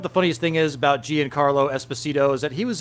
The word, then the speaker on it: Giancarlo: Guy, I'm having a hard time pronouncing that word. Guy Carlo. Giancarlo.